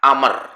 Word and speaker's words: Amr: Jadi kalau dalam penulisan, kalau namanya Umar, itu Ain, Mim, Ro. Bacanya Umar. Tapi kalau Amr, itu nanti di akhir setelah huruf ro ada wawunya. Ain, mim, ro tambahannya wawu. Kalau Umar nggak ada wawunya, maka bacanya Umar. Kalau ada wawunya berarti bukan bacanya Umar, tapi Amr, begitu.